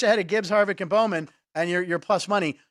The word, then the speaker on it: Bowman: Harvick Joey Lano Alex Balman uh Bowman or Balman not sure how pronounce it Bowman Bowman Bowman there you go so you can bet